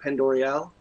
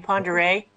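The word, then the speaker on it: Pend Oreille: I want to say that's Lake Pendoriel. That's how you say it. You mean Ponderé? Yes, he means Ponderé. Is it? Okay. It's French.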